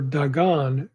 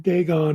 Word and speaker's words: Dagon: On the form Dagon or Dagon, like some other languages in the Semitic tree, long A eventually became long O in pronunciation.